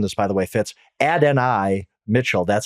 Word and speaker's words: Adonai: And then I learned this, by the way, Fitz, Adonai Mitchell, that's how he pronounces it.